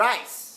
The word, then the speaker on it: rice: ง่าย ิ ครับ ะ ๆ ะ ๆ ๆ Rice Rice ที่ แปล ว่า ข้าว นี่ ครับ ไ